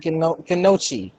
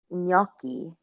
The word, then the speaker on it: gnocchi: Yeah, Ganochi. Ganachi. No, That's just good. no. It's like little dumplings. It's little dumplings, but that's not how you say it, Travis. It's gnocchi.